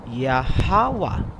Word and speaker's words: Yahweh: Hindi po, kasi ang A ay binibigkas kung may susunod pang syllable. Kung wala nang susunod na syllable pagkatapos ng last letter, hindi na po bibigkasin ang tunog na A.